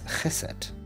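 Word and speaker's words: חֶסֶד: So usually it would be chesed, but here the text indicates that it has an accent on the first syllable, which would normally be the longest sound.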